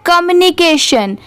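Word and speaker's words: communication: जैसे सी ओ एम। इसे कॉम नहीं पढ़ेंगे। कम पढ़ेंगे।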